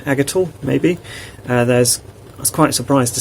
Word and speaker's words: Aigital: Aigital, like D-I-G-I-T-A-L, but A instead. Aigital, maybe.